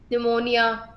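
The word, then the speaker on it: pneumonia: निमोनिया, नी, एन से शुरू हो, एन से साउंड आती है, पी साइलेंट रहता है आपका।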